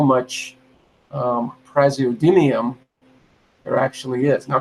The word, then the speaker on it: Praseodymium: Because I want to see how much Praseodymium there actually is. Now, Carl Sagan, by the way, pronounced it dymium. He pronounced it. He pronounced it like a physicist would pronounce it.